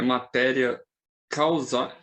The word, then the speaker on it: materia causae: Uma dúvida da pronúncia do termo é matéria causae. É como se escreve. Matéria causae. O latim segue a escrita.